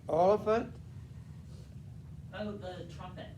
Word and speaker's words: Oliphant: All right, Oliphant, Oh, the trumpet. the trumpet kind of rhymes with elephant because it's probably made of ivory.